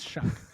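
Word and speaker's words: Shough: The only thing that I go back I know it's it's Shuck. Whatever. Tyler Shuck. I was saying show. It's Shuck.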